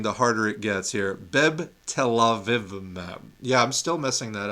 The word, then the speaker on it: Bebtelovimab: Bebtelovimab. Telovimab. I keep wanting to put an extra syllable in it.